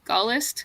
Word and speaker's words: Gaullist: Gaullist. Oh no, I think it's just de Gaulle. De Gaulle. Gaullist Society. I don't think you need to pronounce the S on this one.